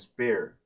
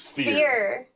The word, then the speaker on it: sphere: All right, and spear. It's sphere.